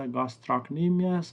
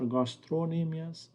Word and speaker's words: gastrocnemius: these muscles one is the gastrocnemius or gastro anemias both pronunciations are correct it's this muscle and